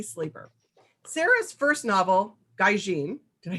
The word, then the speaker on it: Gaijin: today is sarah z sleeper sarah's first novel gaijin did i say it right this time yes